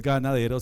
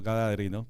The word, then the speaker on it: gadareno: Y como ustedes bien lo han pronunciado, es que a mí el griego me cuesta a veces, no es ganadero sino gadareno, ¿cierto?